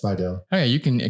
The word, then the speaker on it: Spidell: So I usually say it's Spidell, like the town Slidell. That helps people. Was that how it's pronounced, or like? Yeah, it's Spidell.